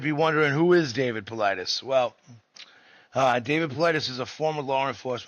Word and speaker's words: Paulides: Politis.